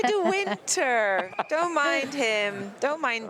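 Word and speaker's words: De Winter: thing the winter win we say do winter don't mind him don't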